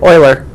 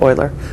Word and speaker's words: Euler: natural number or yeah oiler let's pronounce Euler it looks like Euler but he pronounced it oiler Euler number so e the letter E is called the natural number or the Euler number the number E